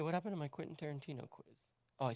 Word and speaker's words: Tarantino: spell it t-a-r-i-n-t-i-n-o it's t-a-r-a-n-t-i-n-o taran tino not tear in tino even though it's pronounced